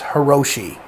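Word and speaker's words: Hirajoshi: Now, the pronunciation of this is still up for debate, but I refer to it as Hiroshi.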